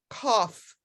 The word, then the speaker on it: cough: toothache and then number six that gh you pronounce it like an s cough it's crazy english sorry about that any other